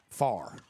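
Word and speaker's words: Pharr: It's Addison, P-H-A-R-R. So we're going to call it Farr. If my elementary days PH together, that's going to be a F sound.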